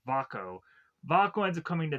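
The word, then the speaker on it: Vaako: I keep want to say his name is Valco. It's Vako.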